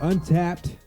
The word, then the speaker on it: Untappd: On this show, we use an app called Untapped. That's spelled UNTAPPD.